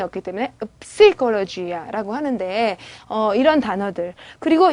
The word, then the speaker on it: psicologia: 뿌가 발음이 없기 때문에 psicologia라고 하는데 이런 단어들.